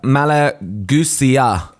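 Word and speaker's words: Malagousia: and Angela heartnut um so it's a malusia is how he said to pronounce it um which you can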